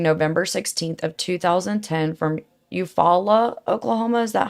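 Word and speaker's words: Eufaula: So, Peggy and Maguire went missing November 16th of 2010 from Eupfala, Oklahoma. Is that how you say it? Eupfalla.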